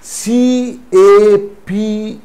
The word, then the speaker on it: cape: For example, C-A-P, cap, again C-A-P-E, here E is not pronounced, but the sound of the previous vowel, that is A here, is affected, is changed. How is it changed? C-A-P, cap, but C-A-P-E, cape.